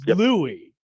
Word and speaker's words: Louis: Um and it it it said that it he tweeted at you and he said this, "You don't say the S in Louis in Julia Louis-Dreyfus. It's Louis."